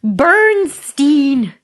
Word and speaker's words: Bernstein: Bernstein.